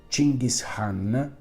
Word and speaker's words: Gengis Khan: D'autres sources suggèrent que les efforts déployés pour cacher les restes de Gengis Khan (prononcer Cinghis Haan, avec l'acca aspiré) sont allés beaucoup plus